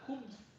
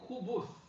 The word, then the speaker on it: الخبث: sukoon on the ba, khubth wal khaba'ith, or khubuth with a dhamma on the ba. Khubuth is the asl in the language, but the Arabs didn't like things that are too heavy, etc. on pronunciation. So this is takhfif, to lighten the pronunciation.